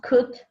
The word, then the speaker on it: could: might as we pronounce could and might as you see uh the silent letters are el incout and g in might we don't pronounce them and how do you